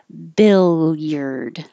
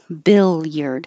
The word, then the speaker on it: billiard: just this word but billiard billiard hold your tongue long enough in the L position that it can be heard before moving to the Y billiard worth and word